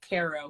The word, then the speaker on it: Cairo: cairo but they say cairo but it's spelled like cairo egypt so they say cairo illinois okay okay i might